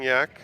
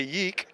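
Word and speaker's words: Yeack: It's a really weird spelling, Yak. It's spelled Y-E-A-C-K. So if you look at it, you will say Yeek. Yep. Or Yak. Yeah. But it's just dropped the E, and it's Yak, like the animal.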